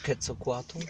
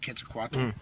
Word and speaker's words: Quetzalcoatl: It's pronounced different ways. Huaxacotle is the one that I've heard. It's the great feathered serpent. Or Quetzalcoatl. Or Quetzalcoatl, Yep.